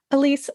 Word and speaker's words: Elyse: um at my name which is spelled a little bit funny so it's e l Ys e is Elise and then s